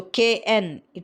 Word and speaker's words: knit: So kn, it is also pronounced as n, no, knit, knife.